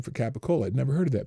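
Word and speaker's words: capicola: Gabigul is colloquial. Americanized pronunciation of the Italian pure oh of the Italian cured pork product known as capacola also referred to capo or capoccola.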